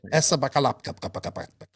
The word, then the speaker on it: Esa-Pekka Lappi: Esa-Pekka Lappi.